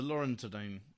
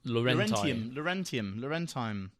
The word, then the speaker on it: Laurentine: So these Roman ones, and one of them, the Laurentide, how do you pronounce it? The Laurentine Villa is just out of Rome.